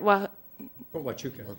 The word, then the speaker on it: Huachuca: Many of the interrogators lacked training, and those who had attended the Army's course on interrogation in Fort, how do I pronounce that? Fort Huachuca.